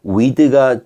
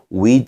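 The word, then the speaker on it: with: 2웨이 비해 이런 구절에서 도 위드가 아니라 짧게 윗 으로 닫아서 발음을 해 주는 게 일반적인 바른 법이에요 그래서 한번 읽어보면 려욱의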